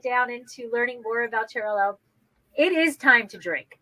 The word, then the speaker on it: Xarel-lo: with Macabeo, Parellada, and Xarel 10. Because in Spanish doesn't exist L.L, and it said Xarel 10, no? like Chanel.